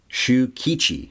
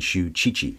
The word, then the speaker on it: Shukichi: Shukichi. I think I was saying Shuchichi. Sorry.